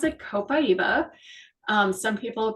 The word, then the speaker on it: copaiba: do you pronounce it it's got a lot of extra vowels in it um I pronounce it copaiba um some people pronounce